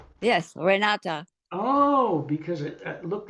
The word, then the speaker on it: Renata: n a TA right well in German it's rate but nobody in America can say that they call me re that's why I tell them rata you can say renati I want to say renati with an E right